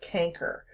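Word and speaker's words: chancre: those of you who are unsure that is pronounced canker so that is just any type of allion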